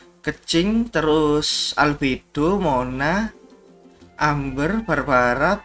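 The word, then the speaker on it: Keqing: Keking. Oh, sorry. Kalau orang-orang biasanya bacanya Kecing, terus Albedo, Mona, Amber, Barbara, Beido, terus Sucrose, Noel, sama dua lagi ini Sil, Sinyan, sama Diona.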